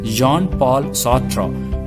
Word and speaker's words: Jean-Paul Sartre: sautra and albert cameo the names are french names so you can see the spelling but the pronunciation is entirely different the name of the first author is john paul sotra and then albert camus human